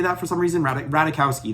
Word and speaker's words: Ratajkowski: Ratajkowski, that's how you say it, Emily Ratajkowski.